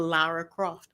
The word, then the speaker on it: Lara Croft: I was going to say it's the same reason why they changed Laura Croft to Lara Croft because they didn't think that we would be Say it able to again.